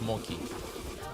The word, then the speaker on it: mochi: Mochi. No, it's Moki. You have a CH in there. I pronounce it Romanian.